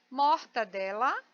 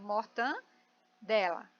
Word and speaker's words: mortadela: Mortadela é o correto, muito embora eu escute um monte de pessoas falando mortandela.